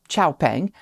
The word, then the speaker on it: Xpeng: Sticking with Chinese brands, Xpeng, and yes, that is the official Western pronunciation of the company's name, Xpeng, has just loaded a transporter with the first G3 crossovers to head to Europe.